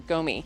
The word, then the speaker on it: gumi: I think it's pronounced gumi. It's either gumi or gomi, but I have 2 of them, 2 different varieties that I found highly recommended.